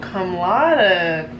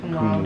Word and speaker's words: cum laude: Oh, cum laude. Is that, that's not how you say it. Cum laude.